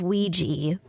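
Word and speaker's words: Weegee: you the tale of ouija waluigi like the game it's pronounced it's spelled w-e-e-g-e-e but it's purported to be taken from the game ouija huh o-w-i-j-a because this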